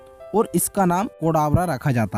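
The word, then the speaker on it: Cadabra: साथ ही कई लोगों के द्वारा इस नाम को केडावर प्रोनाउंस किया जा रहा था, और केडावर का हिंदी मीनिंग मृत शव होता है।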